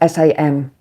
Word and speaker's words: Samhain: but it's pronounced Ogham, just like Samhain is spelled S-A-M-H-A-I-N, but it's Samhain, which is a sort